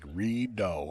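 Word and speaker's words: Rideau: I remember the shot pronounced like redo the do like do a deer got it it's a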